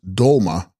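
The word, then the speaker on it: sgrol-ma: Text, Scrolma, pronounced Dolma, Dolma Sanskrit Tara, equals Savioress.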